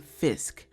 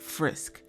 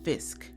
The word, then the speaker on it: Fisk: by the way, not Frisk. Maybe I accidentally said Frisk at some point in my last video, I don't know, but I do know it is pronounced Fisk, and there is no R.